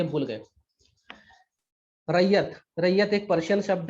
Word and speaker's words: Ryot: रैयत कहा जाता था, रैयत। इंग्लिश में RYOT, ये स्पेलिंग है, RYOT, रैयत।